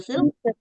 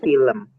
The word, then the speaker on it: film: How do you pronounce the film? Film. Menonton film. Film. Film. Film. Film. Yes. Film. So, it should be film. Yes, film. So, it should be the E sounds in the middle of L and M.